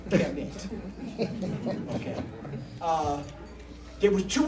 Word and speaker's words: Kemet: KMT and we add a little E so that English people can pronounce it, Kemet.